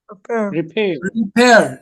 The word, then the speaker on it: repair: Although although the stress lies on the second syllable is it repair or repair repair the stress lies on the second syllable.